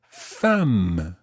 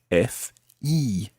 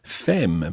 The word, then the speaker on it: femme: about your wife, you would talk about ma femme. Ma femme. Okay, so the word for wife is femme. Now be careful with that one, because if you see that written down, you'll notice that it's spelled F-E-M-M-E.